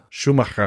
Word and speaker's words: Schumacher: How do you say that in German? Schumacher. Michael Schumacher.